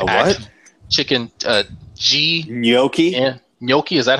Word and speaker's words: gnocchi: Gnocchi, is that how you say it?